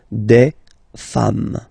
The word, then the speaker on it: femmes: S at the end, and as we said, you don't pronounce it, so you get des femmes, okay, des femmes.